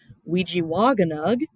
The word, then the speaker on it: Ojibwemowin: So the title of the book, Ojibwemowin, we have that double I, so that is we, single I is j, double A is wa, and then two single A's is ganug.